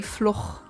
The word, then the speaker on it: Floch: I mean, the character's name is Floch, Floch. No, it's actually Floch. It's a very Germanic setting, so I assume and also that's how they pronounce the name.